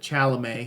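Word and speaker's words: Chalamet: man really cool uh timate which is actually how you pronounce it chalam he's French did a good job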